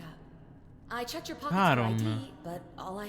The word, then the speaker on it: Charon: It's just as you described it, only your pronunciation is a little off. The name you heard wasn't Karen. It was C-H-A-R-O-N. Caron. As in Charon, the ferryman of the dead.